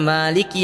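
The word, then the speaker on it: مَالِكِ: Kan umumnya kita membacanya Maliki Yaumiddin, ma-nya panjang toh.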